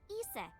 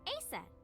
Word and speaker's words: Isis: horse's mom is named isis but in ancient egyptian it's pronounced closer to isa or asa hmm how do i